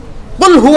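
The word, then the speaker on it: قُلْ: এই কুল। আপনি যদি বাংলা কয়ে পড়েন তাহলে কি পড়বেন? কুল পড়বেন না? কুল। কফরসুকার কু ল কুল। এই কুল যদি পড়েন তাইলে কাফ উচ্চারণ হবে।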